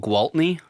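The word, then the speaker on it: Gwaltney: It's called Gualtney. GWAT and it's like Gualtwalt Disney.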